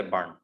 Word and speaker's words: burn: they would pronounce like that, but we do not pronounce R. You would say burn, burn, or burned, burned, burn.